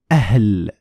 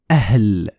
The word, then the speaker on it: أهل: What's going to happen is a small explosion of air because you have stopping the air and then releasing all of it at once. Like in the example, أهل أهل. You have stopping of the air when you're pronouncing the hamza. Then you're going to let all of this at one time when you pronounce the ha sound.